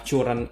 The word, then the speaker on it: Curren: bingung juga sih Ya ini dibacanya sebenarnya current Karen Karen atau Quran tapi kemarin gue sempet nanya ke official sopnya dan Katanya sih dibacanya current aja jadi ya Oke ini